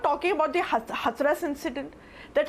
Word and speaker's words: Hathras: So, it's Hathras not Hathras. So, learn to pronounce the cities of UP well.